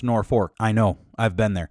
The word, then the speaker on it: Norfolk: North Fork Nebraska it's it's spelled Norfolk like that place in Virginia but it's pronounced nor fork I know I've been